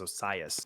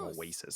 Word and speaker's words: Osias: I was saying right, but it is Osias. I think I was saying Oasis.